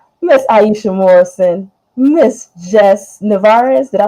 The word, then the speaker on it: Nevarez: everybody's screen right Miss Aisha Morrison Miss Jess narez did I pronounce that right nailed it put on my